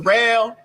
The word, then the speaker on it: Derel: It spelled like Daryl, but it's pronounced Dell.